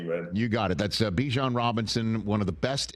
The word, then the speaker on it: Bijan: I prefer Bijan, if that's okay. Yeah. And Colgate is pronounced just Colgate, right?